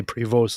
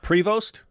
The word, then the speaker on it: Prevost: They just say prevost on the news. Preost. That's it. Yeah. Not provost. They just say prevost. Provost. The emphasis the emphasis is on the second syllable.